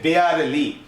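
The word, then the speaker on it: barely: বারে বানানটা বি এ আর ই, দেখো বারে সাথে এল ওয়াই, আসলে এটার উচ্চারণ হচ্ছে বেয়ারলি।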